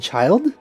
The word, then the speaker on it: Childe: Oh, you actually pronounce it child? For some reason, I thought you would pronounce it like Childe or something.